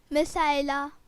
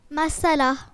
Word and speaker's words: مسئلہ: نہیں، مسائلہ بھی اس کا صحیح تلفظ نہیں ہے. سب مسائلہ بول رہے ہیں، غور کریں کہ یہ لفظ کیا ہے. جی نبیہہ. مسئلہ. مسئلہ. مسئلہ اس کا صحیح تلفظ ہے.